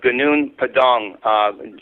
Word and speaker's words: Gunung Padang: I've never said the word before, so you could even, spell that out, somebody. Okay, yes. The word is Gunung Padang, G-U-N-U-N-G, and then Padang, P-A-D-A-N-G.